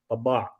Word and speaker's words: Tabbaa: In Arabic, there's a letter that's sa'ah, which is very hard to pronounce in English. So my actual last name is Tabbaa. Tabbaa.